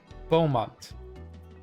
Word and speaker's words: Beaumont: into wonderful dreams again it's pronounced like bow oh beaumont really that's gonna mess with